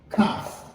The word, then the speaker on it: calf: Calf. Calf. Pas prononcer elle là.